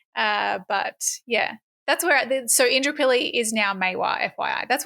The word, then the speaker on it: Indooroopilly: Indooroopilly.